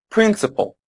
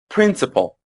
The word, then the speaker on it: principle: and the press is on the first prle principal principal it's the same pronunciation in both British in North American English